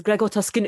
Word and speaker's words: Gregor Tuscan: Well, Plus, you're pronouncing it wrong, Scab. It's Gregor Tuscan.